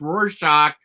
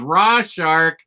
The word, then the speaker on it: Rorschach: Our boy Omar mispronounced Rorschach as RAWSHARK.